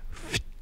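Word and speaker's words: Phfft: Yeah, it was called Fft. That's spelled P-H-F-F-T.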